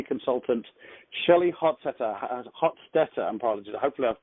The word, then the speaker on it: Hostetter: me I can hear how do you pronounce your name Hofstadter oh I wasn't I wasn't like my was pretty close not too bad it was